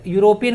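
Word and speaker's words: European: तो यूरोपियन को पढ़िए जरा, यूरोपियन इसका प्रोनाउंसिएशन जो है यूरोपियन एक कॉन्सोनेंट साउंड वर्ड, इसके पहले ए लगेगा, तो ई देख कर मत चलाइएगा, उसका प्रोनाउंसिएशन आप लोग कर लीजिएगा।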